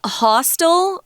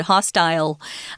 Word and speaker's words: hostile: we take a break you can pronounce hostile the way I just did or like Tom did hostile they're both correct and as you know in English especially in America we have several different pronunciations available so it could be hostile or hostile style they're both great and acceptable right now someone who's